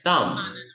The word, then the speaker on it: thumb: Thumb. Thumb. Walang B. You say thumb.